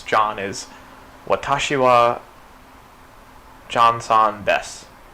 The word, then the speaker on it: desu: is Watashi wa John-san desu. Right, so let's see how I'm going to write it in the romanization. Watashi wa John-san desu, which they pronounce des.